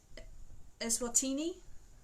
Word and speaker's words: Eswatini: So I'm going to spell it to you before I say it. So it's ESWATINI.